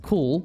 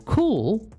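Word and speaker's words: CeWL: the tools output for specific tasks overview K pronounced cool well I'm pronouncing it C fine I'll pronounce it cool cool is a custom wordless generator tool that spiders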